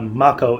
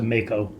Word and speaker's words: Mako: you waiting for also it looks like Mach o is the pronunciation that they're going with as opposed to Mako tough to Phoenix down